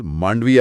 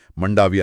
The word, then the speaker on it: مانڈویہ: تلفظ مانڈویہ ہے، منڈاویہ نہیں.